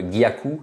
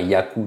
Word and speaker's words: gaku: où elles doivent être par exemple gaku il y a un G hein c'est pas Yaku tout simplement ou Kaku tout simplement non il y a